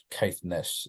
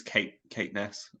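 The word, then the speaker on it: Caithness: up to Cape bledon Keith Nest is that how you say it I think it's Kate Kate Ness okay and Al bunny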